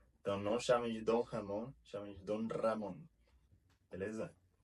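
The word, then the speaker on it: Ramón: A gente pronuncia o R como Ramon. Se vocês falar Ramon, muda totalmente o significado da palavra. Ramon é o nome de pessoa. Ramon é como a gente conhece o presunto em espanhol.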